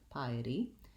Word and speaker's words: piety: sound flap t piety piety um thinking of it as the word it to help you with this vowel sound piety first syllable stress piety and then our